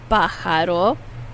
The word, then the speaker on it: pájaro: The J is pronounced like an H.